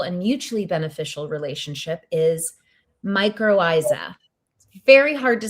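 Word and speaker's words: mycorrhiza: The word for this symbiotic, beautiful, and mutually beneficial relationship is microisa. Very hard to spell, but it's pronounced microisa.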